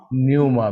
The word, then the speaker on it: Pneuma: न्यूमा, पी is silent ना।